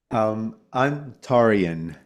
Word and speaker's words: Antarean: Antarian.